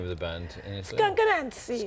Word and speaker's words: Skunk Anansie: Do they have a different way of pronouncing the name of the band in Italy? Skunk Anansie. Skunk Anansie.